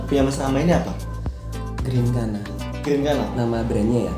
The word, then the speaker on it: Grinkana: Kayak gitu, cuman kita sesuaikan bunyi pengucapan dengan hurufnya yang double E-nya diganti huruf I. Oh. Jadi GRIN bukan GREN.